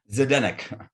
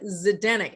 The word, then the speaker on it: Zdenek: your last name just say it for us zedennik zidane zidennick and in five minutes i am not going